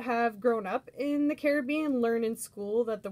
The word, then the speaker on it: Caribbean: grown up in the caribbean learn in school that the word derives from an indigenous tribe called the caribs um and carob is pronounced with the accent on that a like carib um so it's not